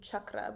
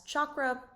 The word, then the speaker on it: chakra: The original pronunciation is actually chakra, but because of the Western commercialization of yoga, you'll often hear it being referred to as chakra or chakra.